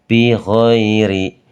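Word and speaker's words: بغير: Enggak boleh dibaca tebal. Karena apa? Ya, kita ee akan membahas bersama tentang ee tema kali ini yaitu tentang ro ya. Ro ketika kok berharakatnya kasrah seperti ini di manaun letaknya, mau di awal, mau di tengah atau di akhir kalimat pada fi'il maupun pada isim itu dibaca tipis, Teman-teman, ya. Dibacanya tipis. Bighairi.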